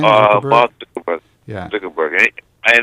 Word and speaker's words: Zuckerberg: How do you pronounce his name? The guy from Facebook, Zuckerman. Zuckerberg.